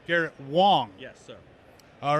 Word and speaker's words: Wang: wong i'm so sorry it's spelled with an a but pronounced like an o but it's good that we tell people this though yes excellent so it's garrett wong yes sir all right